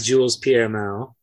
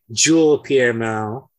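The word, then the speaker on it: Jules-Pierre Mao: then courtier's distrust of Jules PML or I'm sorry Jewel piano I I've been corrected on how that's pronounced yeah I do want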